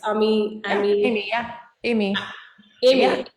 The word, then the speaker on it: Amy: And am I pronouncing your name correct? It's Amy.